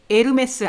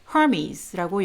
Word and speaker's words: Hermes: 명품 이름 에르메스 아니고요. Hermes, 헤르메스라고 알려져 있는 Herald God, 신들의 전령입니다. Hermes라고 영어식으로는 읽고요.